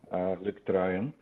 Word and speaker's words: Luc Truyen: Okay, I'll start by saying it as it's pronounced in Flemish, where I'm from, Luc Truyen.